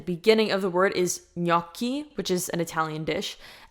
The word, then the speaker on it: gnocchi: So gnocchi, not gnocchi.